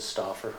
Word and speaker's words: Stoffer: That's close, that is Stoffer. It's Stoffer.